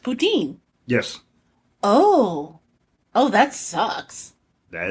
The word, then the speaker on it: Putin: Oh, that's right, because in French, Putin is pronounced Poutine.